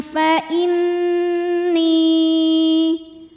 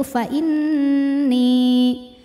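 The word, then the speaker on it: فإني: Minkum fa inni. Nunnya gunnah musyaddadah atau wajibul gunnah atau nun musyaddadah sebab nun bertasydid. Cara membacanya dengungkan. Jadi bunyi n-nya tahan sampai ada suara masuk hidung.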